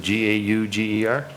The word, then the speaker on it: Gauger: G-A, is it G-A-U-G-E-R? Gauger. Gauger? Yep, thank you. Thank you. Yep. I was the first one you butchered?